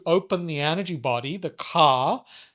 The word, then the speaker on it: ka: the energy body, the ka, Ka, not Car, Ka energy body, as the Egyptians would have called it.